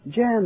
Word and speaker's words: Jan: How do you pronounce that, Jan? Jan, that's right.